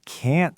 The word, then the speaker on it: can't: I can't swim. Listen to the vowel. Can't. I didn't even pop the t at the end, but you know it's negative because the vowel was stretched and stressed.